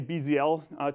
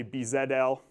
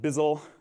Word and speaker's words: BZL: Most people say BZL to refer to this tool. If you're not American, you're allowed to say B zed L. Some people try to pronounce the entire word by saying Bizzel, but I think it